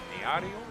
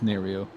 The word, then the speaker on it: Nerio: Neario? Yeah, it's Nerio.